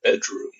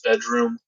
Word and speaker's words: Bdrmm: interesting thing about spins they spelled bedroom wrong they spell it BDR mm that's sort of a trend bands are topping that's pretty much all I have to say about that but if you're ever looking up this band don't try licking it up by the traditional spelling of the word bedroom it is spelled without the E and though and I